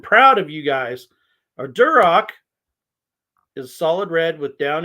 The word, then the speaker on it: Duroc: is it a Herford a duroc pronounced Durock Poland China or Berkshire